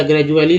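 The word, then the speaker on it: gradually: जैसे एक वर्ड ले लीजिए ग्रेजुएट का, GR, या ग्रेजुएट का या ग्रेजुअली ले लीजिए, ग्रेजुअली। इसमें डी का उच्चारण ज के रूप में होता है।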